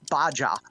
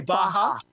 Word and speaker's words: Baja: Somebody called it baja. They were trying to say baja.